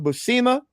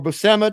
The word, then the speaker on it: Buscema: And this happened a lot with John Buscema, or Buscema, depending on your pronunciation, and the inkers, particularly Tom Palmer, he would have.